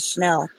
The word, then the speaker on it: Chanel: just saying Chanel number five is how it's pronounced to which is that was Andy Warhol this Chanel number five at the bottom I've seen L